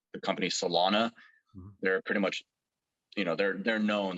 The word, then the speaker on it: Celona: are companies that are professional, like the company Solana.